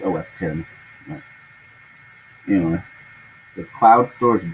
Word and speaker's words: OS X: Well, OS X pronounced OS 10.